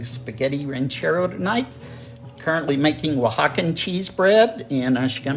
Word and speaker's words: Oaxaca: Yes, that's one of those words that if you look at it, no you would know. sense that you spell it that way. Exactly. At least in English, it does not.